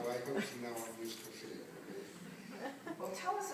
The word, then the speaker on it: Musicophilia: Musicophilia. How do you say it? Musicophilia.